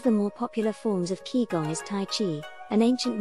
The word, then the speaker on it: Qigong: years ago as part of traditional Chinese medicine pronounced Qigong kigong involves movements designed to maximize energy in the